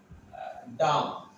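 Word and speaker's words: dumb: বি, এখানে দেখুন ডাম, প্রথম ওয়ার্ডটা আছে ডাম। দেখুন এখানে আমি উচ্চারণটা লিখেছি ডায়াকার মোড ডাম। এখানে দেখুন বি উচ্চারণটা হয় নাই।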